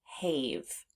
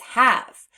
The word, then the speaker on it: have: a long a so we would actually expect this word to sound hav hav but it doesn't it's have which means the silent E is the unexpected part of this word because this word does not represent that long a sound that we would expect so we need to